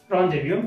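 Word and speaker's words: rendezvous: jade is silent later, there are no fixed rule about jade but in these words are jade is silent later, for example शे शे, लासेफेअर लासेफेअर लासेफेअर लासेफेअर, लासेएलर लासेएलर, रॉन्डेव्ह्यू रॉन्डेव्ह्यू।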